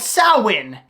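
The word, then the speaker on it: Samhain: the end of October called Sinn it's spelled differently than it sounds the festival marks the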